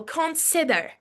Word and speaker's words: consider: Okay, example, consider. Stress on the second syllable, right? Consider.